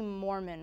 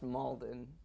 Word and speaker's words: Malden: Oh, that's Eddie Mormon, right? It's pronounced Malden.